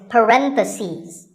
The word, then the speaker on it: parentheses: If you're talking about both, the plural is parentheses. The last syllable becomes ses. Parentheses.